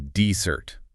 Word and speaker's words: dessert: stress on the first syllable and the sweet thing you eat after dinner is desert. Stress on the second.